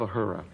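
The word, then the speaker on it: Uhura: commander when you first got the role of a hura am i saying it right a hurricane what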